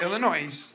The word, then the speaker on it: Illinois: Illinois a linkoln festival illino with the S we pronounce it now you don't Illinois yes yes if your